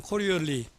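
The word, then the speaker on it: Coriolis: 요 끝에 S가 있지만 묵음이 돼서 그냥 코리올리, 사람 이름입니다.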